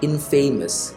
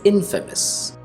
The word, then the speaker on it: infamous: most people disapprove of and also check the pronunciation and i'll make him infamous it is not infamous it's infamous that's the secret grand adventure of the infamous